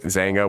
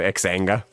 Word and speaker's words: Xanga: back in the day it was spelled like x a n g I guess you pronounce it zanga we always just called xanga yeah I remember finding